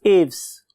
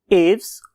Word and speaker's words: Aves: When I was listening its pronunciation, तो मुझे दो किस्म की pronunciation मिली. उनमें से एक एव्स और बहुत से लोग इसे एविस भी बोलते हैं. So what ever you like, right.